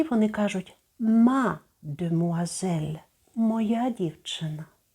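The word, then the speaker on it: mademoiselle: прикметники і вони кажуть мадмуазель моя дівчина слово стало довгим ми трішечки незручно вимовляти тому ми літери И викидаємо з'їдаємо мадмуазель знайоме слово чи не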